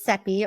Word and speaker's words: Sepy: and my name is sepy rhymes with Pepe and I am your